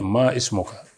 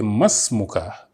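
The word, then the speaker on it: ما اسمك: They say ma ismuka, what is your name? Ma ismuka. This is not the way to pronounce it because it has alifun wasli. The alif that connects is what we call alifun wasli. So you say masmuka or masmuki.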